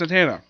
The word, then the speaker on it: Zatanna: Also, she kind of basically has this minor gag in the book where she frequently mispronounces her name. It's Zatanna.